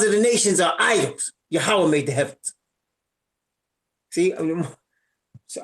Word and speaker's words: Yahweh: Some people say Yahweh Hawashai or Yahweh. And I wanted to find out how to say his name. What did I do? I prayed. How should I call you? How should I address you? And he convicted me, Yahweh.